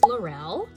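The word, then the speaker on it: Lorelle: So my name is Lurel and this is the first time I'm sharing my name with all of you.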